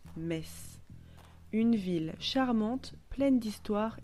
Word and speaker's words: Metz: France notre voyage débute à mess M e t Z qui se prononce mess une ville charmante pleine